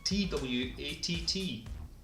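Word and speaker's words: Twatt: It's a place in Orkney, and it's spelled T-W-A-T-T. You've guessed it, it's Twat.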